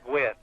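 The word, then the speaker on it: Guinn: here against the right-hander gwen jake gwen's name not spelled like tony gwynn now spelled g-u-i-n-n sort of like nancy gwynne the library in rockdale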